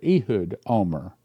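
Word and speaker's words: Ehud Olmert: And so they temporarily put Ehood Omar. And that's the way you pronounce his name.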